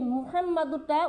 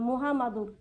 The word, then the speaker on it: মুহাম্মাদুর: রাসুলুল্লাহ সাল্লাল্লাহু আলাইহি ওয়াসাল্লাম অনেক মা বোনেরা আছে এই মুহাম্মাদুরটা উচ্চারণ করতে পারে না কয় মুহামাদুর বুঝছেন কি কয় মুহামাদুর কয় মুহাম্মাদুর মিম পেশ মুহা মিম জবর হাম কি মুহাম আবার মিম জবর মা ডাল র দুই পেশ দূর কি হয় মুহাম্মাদুর